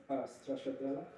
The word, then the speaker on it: stracciatella: Stracciatella.